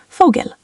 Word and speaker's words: Vogel: For example, WLAN is spoken like VLAN by many Germans, and V is often pronounced like English F in common words. Vogel, bird, starts with an F sound.